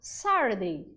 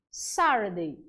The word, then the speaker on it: Saturday: que a gente coloca o som de R nas palavrinhas que tem T e D. Então, eu posso falar Saturday, Saturday, com o sábado.